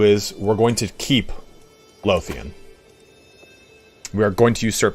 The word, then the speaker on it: Lothian: just for your information, Lothian, the TH is said like the TH in the. So Lothian. And the low is like low. Lothian.